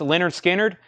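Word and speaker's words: Lynyrd Skynyrd: were all over that one uh Leonard Skynyrd pronounced Leonard Skynyrd this is the MCA Sky label nice copy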